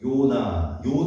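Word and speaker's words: Jonas: 우리가 이제 J가 영어식 발음은 J로 지읒 이렇게 나지만 영어식 발음이 아닐 때는 이제 Y 발음이에요. 그래서 요나 정도 하시면 돼요.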